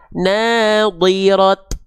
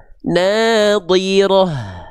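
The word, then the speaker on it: ناضرة: Enggak dibaca nadirat, enggak jadi huruf ta kalau berhenti, tapi jadinya huruf ha. Nirah. Paham? dibacanya nadirah tuh jadi ha besar keluar aliran nafas dan suaranya paham tapi kalau misalnya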